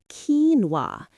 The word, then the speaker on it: quinoa: The word which comes from Spanish is correctly pronounced quinoa. The stress is on the first syllable and that middle part, the no is almost swallowed by the no sound at the end.